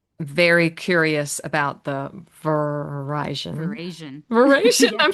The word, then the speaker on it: veraison: Verasion. Verasion, Verasion.